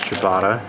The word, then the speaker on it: ciabatta: This happens to be a ciabatta, which is pronounced ciabatta.